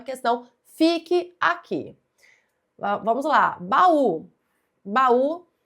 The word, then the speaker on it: baú: E é por isso que essa palavra é acentuada, não é por ser oxítona, não. Então aqui é pela regra dos iatos. Baú, tá certo?